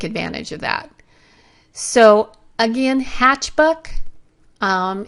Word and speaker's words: Hatchbuck: of that so again hatchbuck um it's a funny name and I mispronounce it all the time I keep wanting to call it hatchback but it is a